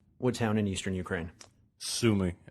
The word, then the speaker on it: Sumy: Sumy.